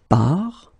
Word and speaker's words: part: Then you will get tu pars, il, elle part. So the first thing that you get to keep in mind, you get this final S, final S, final T, but then you don't pronounce them.